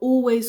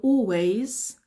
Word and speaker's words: always: the door um he's so nice he will always go the extra mile that's one idiom He will always go the extra mile always always we we